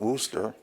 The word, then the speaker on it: Worcester: They pronounce it Worcester, and Chesapeake, call it Chesapeake Lake.